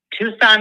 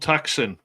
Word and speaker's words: Tucson: Tucson, Arizona. Oh, good old Tuxen. Very nice. Very nice. It's amazing how many people do pronounce it that way. By mistake.